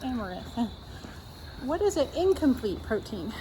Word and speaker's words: amaranth: But plant-based complete proteins include quinoa, soy, buckwheat, hemp, chia seeds, spirulina, tempeh, and araneth.